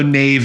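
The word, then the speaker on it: naïve: Nave I was so Nave at the time Nave wow yeah there's a little thing lot over the eye that means you pronounce them as two separate vows yeah there's a thing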